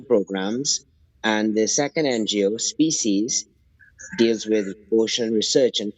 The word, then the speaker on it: SPESEAS: The first NGO, Species, it's spelled SPESEAS. So it's a play on words, Right, species.